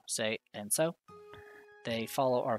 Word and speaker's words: せ: せ This is se or se. You pronounce it as se, like in the word set. せ Let's practice writing it.